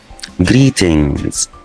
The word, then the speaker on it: greetings: ولو خدنا بالنا هنا في الكلمة دي معايا حرف الجي ما بنطقوش عشان جه ورا حرف الان. حرف الجي لما بيجي مع حرف الان ما بنطقش الجي، اخر صوت بيبان معايا صوت الان. فلو هي مفرد بس هقول جريتن. انما هنا عشان هي جمع فيها اس في الاخر فهقول جريتنز.